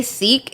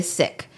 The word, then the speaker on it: Sikh: ] the thing is the only reason why they say seek is because of the it's actually sick but because people always misidentified that and like didn't know how to say it properly they changed the word to seek so that you could identify that it's a religion and not the word but it is sick and it is sick